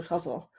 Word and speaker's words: ghazal: form that's called the kutzle and it's spelled G H a Zed al but it's pronounced kind of like guzzle but with a slight